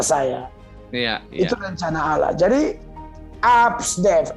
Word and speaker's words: Absdev: Jadi Absdev, A sampai F itu bacanya Absdev. Absdev.